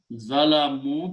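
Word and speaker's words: ظلموا: Then add a vav, plural, and pronounce zalamu, because vav will force this to go to dhamma.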